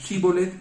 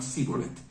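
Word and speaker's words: שיבולת: algún idioma de esos, cómo pronunciaban unos la palabra Shibboleth y otros la pronunciaban Siboleth, ¿no?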